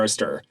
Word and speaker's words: Astir: Mobile Suit yeah so if you're ever in doubt of how to pronounce it it is armor AER what's an what what's